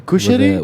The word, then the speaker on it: kushari: Yeah, it's I want to The khushari is Khosheri. yeah, khushari. I don't know how do you pronounce it. It's cool. Khushari. Kushari. With a K. Kushari. Khushari.